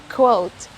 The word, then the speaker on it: quote: quotation can you think of another way of pronouncing this word it's quo it's quotation so this word is quote both code and quote are correct what's the